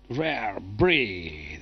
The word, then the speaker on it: Rare Breed: Добре, групата се казва Rare Breed. Did I say it right? Rare Breed.